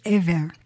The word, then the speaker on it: Eber: But now it looks like the actual pronunciation is Ever. Ever, which makes sense. B in Semitic languages is vocalizes a V sound in English.